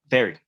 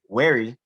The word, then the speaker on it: very: Yeah, but notice how Chandler's lower lip sort of touched his teeth with the V. Very. I'm very. So that's why it's very important. That's why it's very important to pronounce V properly. Because if you say wary, that's a different word. Totally different word.